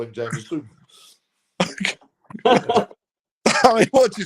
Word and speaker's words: Jameson: Is it Jameson or Jamison? Well, we would say Jameson over here, but I mean, that's how we would pronounce it.